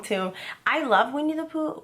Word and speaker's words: Winnie the Pooh: saying that i have a bad habit of pronouncing winnie the pooh wrong so i always slow down when i say that title because i always say since childhood we need the poo why i don't know